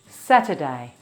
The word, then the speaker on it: Saturday: This is the only day that has 3 syllables. Satur has 4 sounds. S, A, T, E. This sound is a small sound. Satur. S, A, T, E. S, A, T, E. Satur. Saturday. The stress is on sa, Saturday. When Australians say this quickly, it can become Saturday. The t becomes a d sound.